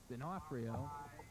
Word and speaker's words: D'Onofrio: 33, Dionfrio, is going to get that call, and he's going to pick up about 4. Bring up third down. D'Onofrio is the name, pronunciation of the name.